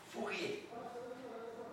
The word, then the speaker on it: Fourier: Vocês não pronunciam a vogal, né? Fourier.